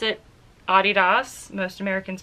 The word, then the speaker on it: Adidas: here I pronounced it Adidas most Americans pronounce it Adidas but I worked for Adidas for quite a while so I pronounce it the rest of the world way you do you I'm